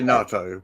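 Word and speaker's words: Naato: Natu. Natu. That sounds fun. N-A-A-T-O. NATO. NATO. I would say NATO, but...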